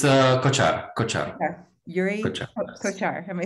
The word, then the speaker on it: Kocar: It's Kocar.